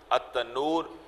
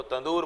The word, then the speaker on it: تنور: بہ پڑیں، ابل پڑیں، التنور، تنور، یہ تنور کا تذکرہ بھی جو ہے جس کو ہم کیا کہتے ہیں، تندور، ہم اس کو تندور بولتے ہیں، تو لب و لہجے جو ہیں وہ بگڑ جاتے ہیں۔ وفارت تنور، اور پانی